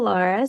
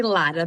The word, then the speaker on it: Lara: I'm Italian, and that's totally the way all my Zias and Zios would say my name growing up. It wasn't I'm in Canada, so we're going with Lara. Not everyone can roll their tongue that way.